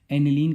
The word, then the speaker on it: aniline: हैं देखिए ये है एनलीन सबसे पहले तो आपको इसका नाम याद होना चाहिए एनलीन है ठीक है एनलीन ठीक है स्पेलिंग प मत जाना ठीक है एनलिन बोलते हैं इसको अगर बेंजीन रिंग प